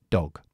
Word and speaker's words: dog: hamsta Okay perro aquí pronunció la o corta porque está en silab cerrada dog dog dog es la o corta pero es un poco más larga Porque llevo una G y la g es g g g es Sonora Así que dog dog